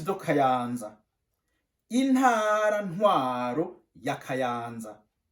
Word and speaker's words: Kayanza: Intara ntwaro ya Kayanza. On prononce Kayanza. Kayanza. Répète avec moi.